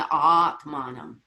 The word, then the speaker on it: atmanam: Just the pronunciation, atmanam. That's all. Just don't be afraid to go, ah.